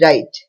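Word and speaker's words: write: letter silent है डब्लू आर आई टी ई राइट यानी लिखना the silent word is डब्लू के एन आई एफ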